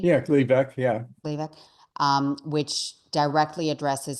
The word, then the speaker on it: Gleevec: Am I pronouncing it correctly? Yeah, Gleevec, yeah.